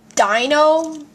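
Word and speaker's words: Deino: be sharp neat more as wellas and it's pronounced Dino I don't know why so Shelmet vanillite paner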